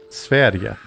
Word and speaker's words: Sverige: Sverige? It's pronounced, according to Jasmine, who speaks perfect Swedish. Sverige.